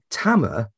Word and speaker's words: Tamer: say your name was Tamer but basically you said it was like it rhymes with hammer so and I actually